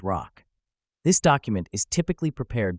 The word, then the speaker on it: ROC: Professionals pronounce it as rock.